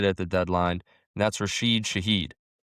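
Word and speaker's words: Rashid Shaheed: Rasheed Shahed. There we go. That's probably the first time in my life I pronounce it right, but we go out and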